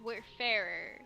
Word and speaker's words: Wayfarer: no no no w-a-y-f-a-r-e-r which is like where far but it's where fairer yeah i think you're